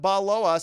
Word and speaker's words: baloa: it is we have baloa says and the username is pronounced ba like a sheep says and the blend it